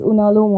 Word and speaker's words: Unalome: is the pronunciation proper pronunciation of unom unom pronunciation uh is unom only yeah and it is basically a symbol